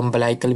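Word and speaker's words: umbilical: से आ रही है, इसको अम्बलाइकल भी बोलते हैं, अम्बिलिकल भी बोलते हैं, किसी भी तरीके से आप प्रोनाउंसिएशन कर सकते हैं, pronunciation is नॉट a problem.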